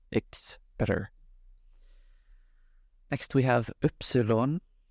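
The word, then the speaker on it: Ypsilon: better next we have Epsilon Epsilon and uh this is not pronounced the same as why would be in English slightly different oops on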